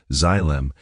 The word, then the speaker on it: xylem: It travels up the xylem, pronounced xylem, and fortifies the fruit against the rot.